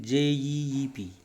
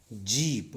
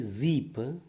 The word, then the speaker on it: jeep: initially it happens in j-e-e-p jeep don't say zip it is not as it is jeep yes medial bud ject